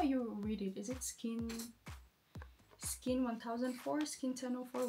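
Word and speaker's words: SKIN1004: Rose and Charlie explained that when you pronounce 1004 in Korean, it sounds the same way as the word angel, or chonsa to be exact.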